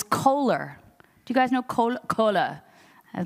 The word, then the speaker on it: Kohler: Do you guys know Kohler? I pronounced it correctly.